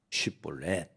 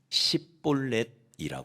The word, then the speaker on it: 쉽볼렛: 아니구나 하고 살려 줘요 근데이 에브라힘 사람들은 쉽볼렛이라는 발음을 우리는 이렇게 쉽게 하는이 발음을이 사람들은 이걸 못 했다이 볼넷을 십볼렛이라고 발음을 했다는 거예요 우리나라도 이와 유사한 사례가